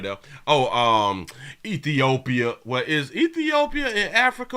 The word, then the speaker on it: Ethiopia: it say East Africa ethiop Ethiopia ethiop that is how you pronounce it oh Rwanda because